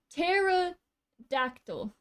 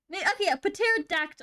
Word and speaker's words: pterodactyl: I shouldn't be pronouncing p. pterodactyl.